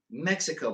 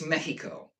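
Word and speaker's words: México: okay, I was going to make a point, but it's like we call Mexico Mexico, but that's not how you say it. It's Mexico, right?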